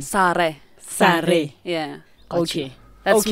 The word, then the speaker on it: Sara: Well, it depends on which language. Your English, language. The mother tongue? Correct mother pronunciation. Sare.